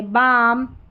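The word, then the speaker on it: balm: काम पाम Simon और यह है बाम। यह है आमंड। क्या है? आमंड। तो इस तरीके से इसको प्रोनाउंस करना है।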